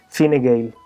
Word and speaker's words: Fine Gael: el partido democristiano liberal Fine Gael. El porqué de esta pronunciación tan curiosa se debe a que en Irlanda existen dos idiomas oficiales, el inglés y el irlandés o gaélico.